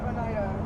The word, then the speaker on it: Oneida: Oneida is pronounced Oneida. It's Native American. Oneida. Sounds Japanese.